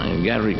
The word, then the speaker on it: Garrick: vaya a ver a garrick garry pero pronunciaban el Rick para que hubiera rima diciendo que era el